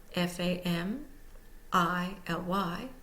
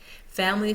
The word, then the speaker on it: family: syllable all by itself family for example is often pronounced family because the i in the middle has the Schwab vow sound has become so lazy and is not sounded out fully note not all words